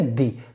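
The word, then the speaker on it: the: बता रहा हूं, बाकी उच्चारण आप कैसे करेंगे, दी, हर जगह पर दी लगाएंगे, दी बोलेंगे, दी छोटी की मात्रा दी।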